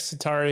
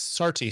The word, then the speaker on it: Sarti: Okay, Satara here. Did I pronounce that right? yes, Sarti. Sorry, Sarti, Sarti yeah.